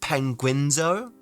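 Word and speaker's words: Penguinz0: it is a pack it is actually pronounced penguinzo I'm like dude that's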